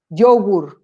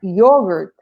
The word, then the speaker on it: yogurt: very important so for example uh one one mispronunciation that can create a problem i'll give you an example people say yogur and they cannot recognize the sound they say